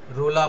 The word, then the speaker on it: Roland: মূল যে কিছু কিছু লেখক আছে, যেমন দেরিদা, রোলা বাত, এই নামগুলো তোমরা নোট ডাউন করবে। JACQUES, জাক, উচ্চারণটা হয় জাক, জাক দেরিদা, DERRIDA, দেরিদা।